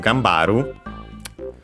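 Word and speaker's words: 頑張る: And yes, so gambaru, by the way, accented, unlike haru on its own, so be careful, means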